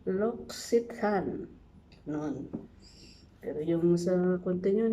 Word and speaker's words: L'Occitane: How to pronounce it? Lox-ee-tahn.